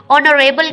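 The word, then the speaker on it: honourable: Yusuf is एन ऑनरेबल citizen, ऑनरेबल ए ओ से पहले अगर एच आए किसी भी वर्ड के साथ तो एच क्या होता है, साइलेंट होता है, तो ओ की साउंड आती है तो उससे पहले हम एन राइट करते हैं।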